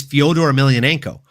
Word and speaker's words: Fyodor Emelianenko: the name he doesn't even know how to pronounce. Like, it's Fyodor Emelianenko, the last fucking emperor, one of the greatest heavyweights to ever grace any form of mixed martial arts fighting, folks.